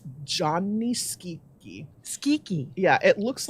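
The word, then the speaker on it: Gianni Schicchi: Italian for Johnny and skeety rhymes with squeaky and then oh that's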